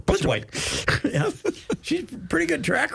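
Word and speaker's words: Plitzuweit: Blitzerwhite. I've decided if you say it real fast without syllables, you can pronounce it correctly. Blitzerwhite.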